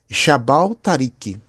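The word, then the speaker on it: جبل طارق: Mas na pronúncia árabe daquela época era Jabal Tariq. Jabal Tariq significa Montanha de Tariq. Então, Jabal Tariq, com o tempo e com a modificação das pronúncias, vai virar Gibraltar.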